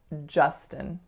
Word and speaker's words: Justin: more of a ah, oftentimes actually I hear it as more of a oo, but it's really ja, like in just. And then the second syllable is schwa, n, or a syllabic n.